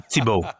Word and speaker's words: Thibault: Can you pronounce Well, it depends. Do you want the Quebecer version or the French version? I say Tibo. Tibo.